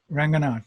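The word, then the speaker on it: Ranganaut: is it random right ranganat so it's now yeah it's like astronaut married to my last name oh yeah perfect and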